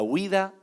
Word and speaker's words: huida: La huida de Jonás. Huida con H muda al inicio.